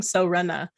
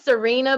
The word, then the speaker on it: Serena: I've been saying Sorena. Let's see, her real name is Serena, but her handle is Sorena. Serena.